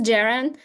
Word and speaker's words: Jiren: So, my name is Jiren. Uh it's pronounced with a J.